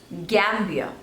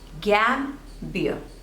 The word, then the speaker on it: Gambia: France next is Gambia Gambia so there are two labels and you have to stress on the first one gam beer Gambier Gambia Gambia next is